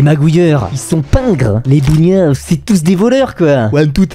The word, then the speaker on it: bougnat: Prononcé à l'Auvergnat, a fait charbonnier. D'où le surnom Bougnat.